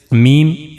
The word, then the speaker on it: ميم: And in the end, the letter we have is meme, and the origin of this letter is dry part of 2 lips. We have to use the dry parts of 2 lips, and when the dry part of 2 lips will connect to each other, then we can easily pronounce meme, meme.